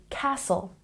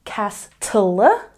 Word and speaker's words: castle: that the t is silent if it's spelled in words with t l e or t n so some examples include Castle we're not saying Castle no no no we're